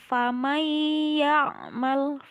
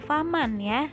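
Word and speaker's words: فَمَنْ يَعْمَلْ: Nah, yang menjadi ciri idghamnya yaitu ada nun sukun bertemu dengan iya, maka cara bacanya yaitu langsung dimasukkan ke huruf iya. Iyanya harus terdengar. Famayyamal, famayyamal, bukan faman ya, bukan famang tapi famayyamal.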